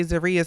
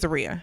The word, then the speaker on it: Zeruiah: Okay, so I think we learned how to say Zariah's name today. So I think it's Zaria. So we've got Zaria and Troy up first.